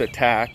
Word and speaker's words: Attack: act the attack so it's pronounced attack and it's pronounced Act II sure for activities you